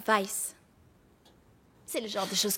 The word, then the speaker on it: Weiss: de sang oh Adrian Weiss Weiss ça se prononce Weiss c'est le genre de chose que tu sais